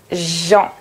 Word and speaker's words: gens: à l'écran avec le son en vérifiez votre prononciation gens tante ans bon prononcer maintenant ses mots avec